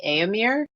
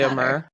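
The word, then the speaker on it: Éomer: I might be saying it wrong because I've been saying Eamir. Oh, well, I say Eamor. I don't think it really matters deeply. You can follow your heart when it comes to pronunciations.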